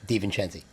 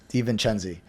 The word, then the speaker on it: DeVincenzi: DeVincenzi. DeVincenzi. So JD is what he goes by, but in my phone, James DeVincenzi.